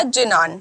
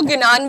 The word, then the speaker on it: ज्ञान: लिए सबसे पहला था जनान या आप इसको ज्ञान भी प्रोनाउंस कर सकते हो जनान क्या होता है